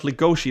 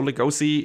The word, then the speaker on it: Legosi: the net and everywhere, he's spelled Legoshi like he's pronounced in Japanese. But I've also read that his name is an homage to Bela Lugosi, the Dracula actor. So Legosi apparently is the right name if you are not Japanese. The right pronunciation if you're not Japanese.